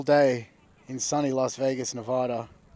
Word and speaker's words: Nevada: Beautiful, beautiful day in sunny Las Vegas, Nevada. How's my pronunciation of that? Sucks, but Las Vegas, Nevada. It's Nevada.